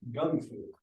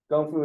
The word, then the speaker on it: gung fu: I learned something this Gung Fu right that is correct yeah yes Gung fu is the pronunciation in in Chinese so it I guess it got transliterated somehow to kungu but you want to